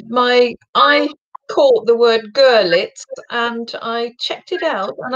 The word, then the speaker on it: Görlitz: Görlitz, is that the correct pronunciation? Görlitz. The emphasis is on the first syllable. Görlitz. So it's like a U, Görlitz. Yeah, right, okay, yeah.